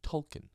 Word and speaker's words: Tolkien: yeah by the way we say token it's tolken true it's that's Rond I know they pronounce it token it's like I that's one of those changes